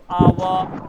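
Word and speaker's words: hour: आवर, honest, on, कुछ इस तरीके के सारे सारे एग्जांपल हो गए। तो एच के आगे अगर ओ आ जाए तो एच साइलेंट होगा, और एच के पहले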